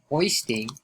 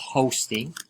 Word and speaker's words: hoisting: that so you know hoisting so not hosting it's not hosting by the way the